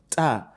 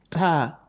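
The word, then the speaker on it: ت: The tip of your tongue touches the root of your upper teeth. Okay, so you have ta.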